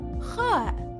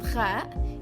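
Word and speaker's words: خاء: The next letters are Jim, Ha, and Kha. Jim corresponds to the English J. Ha corresponds to the English H, but it's much more throaty. Kha corresponds to the combination KH. In writing, Jim, Ha, and Kha each have the same body, as follows.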